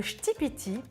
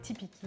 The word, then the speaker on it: ktipiti: Le shtipiti. Je viens d'apprendre la prononciation, avant je disais tipiki ou tipiki, enfin bref.